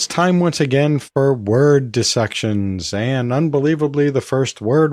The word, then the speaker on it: dissection: around to that question how do you pronounce it I think there's a really strong case to be made that the correct pronunciation of that word is dis section because the first word part is dis not dice or even die now there is a